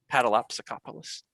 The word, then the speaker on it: Paddleopsicopolis: E is silent. Paddleopsicopolis.